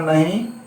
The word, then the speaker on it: know: अब है नो और नो, यहां भी केस साइलेंट है, इसको हम नो पढ़ेंगे। NO नो मतलब हुआ नहीं।